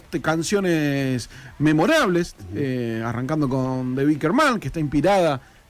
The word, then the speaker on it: Wicker Man: Sí, vos tenés mejor pronunciación. Wicker Man. Está muy bien, Wicker Man.